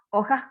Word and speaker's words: hoja: Hojas con H, ¿ok? Hoja se escribe con la H. Es una letra que no tiene sonido.